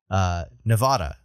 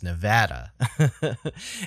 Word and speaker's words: Nevada: I'm from New England, so I pronounce I pronounce the state it's from Nevada, not apparently how it's supposed to be pronounced, which is Nevada.